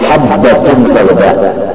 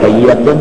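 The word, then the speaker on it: حبة السوداء: Gara-gara kita tidak disisih, yang betulnya habbatun sauda, cuma si gagak bagawi menambahi titik sedikit, lalu hayyatun, padahal bacanya habbatun.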